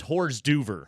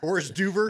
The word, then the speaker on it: hors d'oeuvre: I believe it's pronounced hors d'oeuvre. Hors d'oeuvre is how you actually pronounce that.